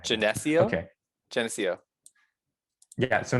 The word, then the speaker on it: Geneseo: Geneseo. Yeah, that's it. Okay. I think we're saying the eh too much. Like that's the too much emphasis there. Geneseo. Right. Geneseo?